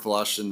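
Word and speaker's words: Wlaschin: Volashin, my name is spelled M-A-R-K, last name W-L-A-S-C-H-I-N.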